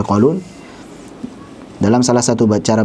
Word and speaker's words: Qalun: Maupun riwayat Qalun, yaitu kelebihan a, Qalaun, harusnya Qalun.